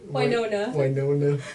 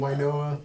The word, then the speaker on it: Winona: Winona. How do you say her name? Winoa. That's wrong.